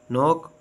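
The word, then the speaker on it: knock: honest honour air और silent के के इज not pronounce one follow by एन एट the beginning of the word अ किसी अल्फाज के शुरू में के के बाद एन आए तो के आवाज नहीं देता जैसे नाइफ नी नो नॉक knowledge silent L एल इ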